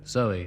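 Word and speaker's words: Zowie: It's called Kooks and celebrates the birth of a baby on Sunday called Zoe at the moment, spelled, of course, Z-O-W-I-E, to rhyme with Bowie.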